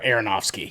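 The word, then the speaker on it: Aronofsky: Um, and I I just have to mention he also did uh Oh, Darren Areronowski.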